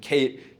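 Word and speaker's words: CAIT: Tell me a little bit about Kate, about your team, how you thought through building this piece of the product. Yes, and Kate is spelled c a i t.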